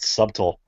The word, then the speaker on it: subtle: in the future dean would never pronounce the bee in any word ever again out of